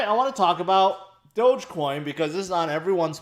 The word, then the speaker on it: Dogecoin: you guys know um I used to think it's called doggy coin too until I realized that's the wrong way to say it um and I'm not the best at pronunciation uh anyways Dogecoin can it go any